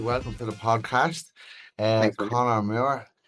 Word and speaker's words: Conor Moore: Conor Moore, help me pronounce it. Conor Moore, yeah.